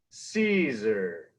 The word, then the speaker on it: Siser: I always start my lessons here on how to properly pronounce Caesar. So say it with me. Caesar.